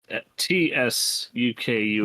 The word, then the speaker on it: Tsukune: I will fix the spelling for you too, because it is Tsukune. Yes, UKN. Okay, well. Yeah, like tsunami. Same.